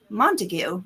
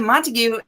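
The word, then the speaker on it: Montague: um there's a monteg there's like a Monte Street but in Shakespeare it's like montue right so you think you were saying so I said montigue thinking I'm saying it correctly but no yeah I mean if straightforward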